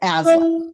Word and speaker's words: Aislinn: it's Aslan, like with a Z. Aslan. Okay, Yeah. yeah, because So the same spelling in Irish Gaelic for her name would be Ashlyn, yeah, and in Scots Gaelic it's Aislinn, yeah.